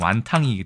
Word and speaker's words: 완탕: 우리나라에서 완탕이라고 얘기합니다 완탕 왜냐하면 이것이 완탕 해서 예 광동식 발음이 완탕이기 때문이고요 이거는 완탕 윈 윈톤네